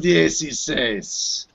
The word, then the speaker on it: dieciséis: they're going and we're live buenos dias episode dac6 16.